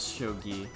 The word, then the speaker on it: shogi: So yeah, it is shogi. Yeah, I do know how to pronounce a fair amount of Japanese words.